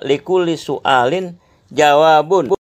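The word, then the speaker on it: لكل سؤال جواب: Itu saya bacanya saya salah. Likulli Su'alun, ya Allah. Yang betul Likulli Su'alin Jawabin. Yang betul adalah Likulli Su'alin Jawabun.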